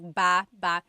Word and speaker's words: baba: So depending on how you're saying it, it could be baba, chin, baba. Emphasis is on the first syllable. Baba. Then there's baba. Baba ba. Emphasis is on the second syllable syllable. That means to go down.